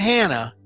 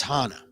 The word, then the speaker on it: Hana: anchor to say it's not hannah it's hana indicating some asian ethnicity as